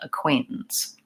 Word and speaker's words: acquaintances: up and I think the most important thing is to have a clear Quay in the middle clear vowel and the short reduced syllables on either end acquaintances faith has a question